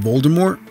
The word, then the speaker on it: Voldemort: contrary to popular belief the T at the end of Voldemort is silent the name comes from the French words meaning flight of death 17 JK Rowling slightly